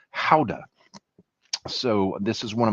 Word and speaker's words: Gouda: Uh smoked Gouda or as it's pronounced in uh Holland where Gouda originally came from, Howda.